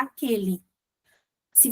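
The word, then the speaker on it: àqueles: Não, a gente fala somos contrários a aquele. Se você prestar atenção, se você pronunciar isso, você percebe que você fala o a com uma entonação diferente.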